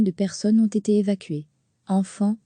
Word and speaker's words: Amphan: Amphan, se prononce Amphan, a atterri vers 18h